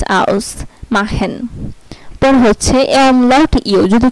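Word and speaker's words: ausmachen: তারপর হচ্ছে এই ইউ যদি কোনো ওয়ার্ডে একসাথে থাকে তাহলে এটার উচ্চারণ হবে আও, আও এর মতো। যদি কোনো ওয়ার্ডে এ ইউ একসাথে থাকে তাহলে এর উচ্চারণ হবে আও। যেমন আউস মাহেন, এই যে এ ইউ, আও এস, আউস মাহেন।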